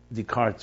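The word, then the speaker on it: Descartes: directly diametrically opposed to decar decart um decart should be the way we pronounce it theory about I am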